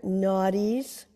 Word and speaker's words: nadis: is considered an inversion excellent for our major naughties n a d i s is how you spell it not being naughty naughties feel that stretch